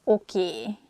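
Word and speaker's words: oké: pronunciate it that way so we just say a sound a at the end so it sounds okie instead of okay and easiest excuse me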